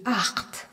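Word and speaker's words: acht: Et en à la fin qu'on retrouve souvent à la fin des verbes et qui se prononce un. Le nombre 8 se dit art.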